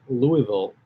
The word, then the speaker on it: Louisville: i think it's in louisville now the proper way to say louisville is to say like you have marbles in your mouth but yeah and um